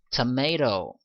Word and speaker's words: tomato: 그래서 heroes 이렇게 발음을 하고요. tomato, 자 토마토가 아니죠.